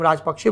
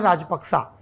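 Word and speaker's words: Rajapaksa: श्रीलंका के कई प्रसंग, राजपक्सा जी, जिसको हम राजपक्षे बोलते हैं, सही उच्चारण है राजपक्सा, उस परिवार से जुड़े हुए कई प्रसंग आपको मिलेंगे।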